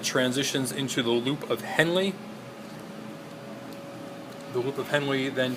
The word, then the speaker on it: Henle: this are area is called the loop of Henley and Henley is spelled h nle e so that's the loop